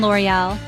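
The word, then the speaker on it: L'Oréal: let's break it down the first syllable L is pronounced just like the English letter L the next syllable or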